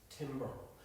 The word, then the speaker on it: timbre: We've took the deep blue and we've put in some yellow in tone colour, or what's known as timbre. What we need, not timbre, timbre, but it's spelled Timbre, okay?